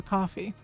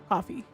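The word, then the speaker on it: Ko-fi: But if we don't get it, I might have to set up a coffee.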